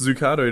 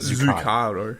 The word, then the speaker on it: Zucado: It's Zucado to begin with, not Zucaro.